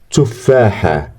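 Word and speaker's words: تفاحة: A ta is at the end. We pronounce it like ha.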